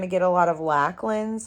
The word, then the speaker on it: Lachlan: Where in Australia, the way that you would pronounce Lach would be Locke with the just the way that their accent is, I think.